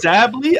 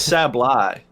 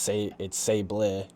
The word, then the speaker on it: Sableye: I thought it was Sableye. I don't know. Sableye sounds better, man. I should be saying Sableye. I mean, if we're going by how the words are pronounced, it's Sablé, but that doesn't sound as good.